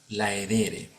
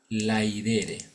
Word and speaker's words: laedere: de hoy alterum laedere algunos pronuncian esto como si fuese así No laere ya pero esa pronunciación laere Sí pues es una pronunciación del latín también clásico pero no del latín que se hablaba en las ciudades sino en los pueblos alejados a las ciudades Entonces vamos a tratar